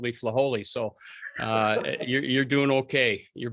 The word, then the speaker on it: Flajole: Flajole, I got it. So well, that's okay, Herbie. When I was in El Paso, they called me Flajole.